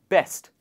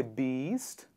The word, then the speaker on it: best: For example, in the word best, we don't say beast, because a lot of you must be wondering, this is E, and so we say beast.